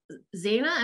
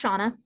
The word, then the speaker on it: Shauna: Zaina, am I saying that right? I apologize if I'm not. It's pronounced Shauna.